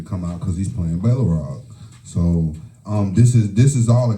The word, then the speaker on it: Balrog: I think it was Balrog, right? Balrog. I don't want you to mispronounce it.